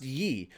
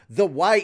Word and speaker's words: ye: this ye old that it's it's not actually pronounced ye the ye is actually said the the old the old